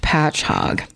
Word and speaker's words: Patchogue: And in parentheses it does say pronounced Patchogue.